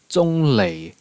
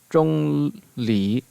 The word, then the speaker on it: Zhongli: And then we have Big Daddy Rock Guy himself, Zhongli, which in Cantonese is Zhonglei, Zhonglei. Now the Japanese is Sori, and then the Mandarin is Zhongli, Zhongli.